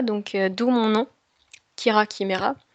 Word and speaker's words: Chimera: d'où mon nom, Kira Chimera, à prononcer que et non pas che, hein, comme beaucoup le font.